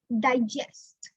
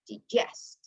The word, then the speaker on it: digest: If it is a noun, we're going to pronounce like digest. If it is a verb, we're going to say digest.